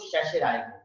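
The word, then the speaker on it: certiorari: अब इंग्लिश में हम पढ़ें तो स्टैट्यूटरी, लेकिन इसको शैशराय मतलब यहाँ पर आर साइलेंट है, दो जगह आर साइलेंट है, शशि रॉय हो जाता है, शशराय। हिंदी में कहेंगे उत्प्रेषण प्रणाली।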